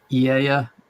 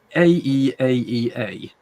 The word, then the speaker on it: Aeaea: island of, I can never say this word, Aeaea. Aeaea.